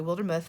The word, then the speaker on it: Wildermuth: So there's my mailing address, Wildermuth. It's actually Wildermuth, but nobody knows what I'm saying when I say it like that. So Wildermuth, Blossom and Inspire, P.O.